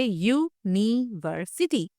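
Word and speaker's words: university: क्योंकि यूनिवर्सिटी का साउंड होता है यूनिवर्सिटी।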